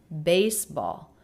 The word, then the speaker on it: baseball: Compound word stress on the first word. Baseball.